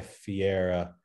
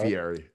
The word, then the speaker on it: Fieri: myself like diving into like you know guy fiera is that how you say his name guy guy fieri guy fieri sorry yeah yeah now i feel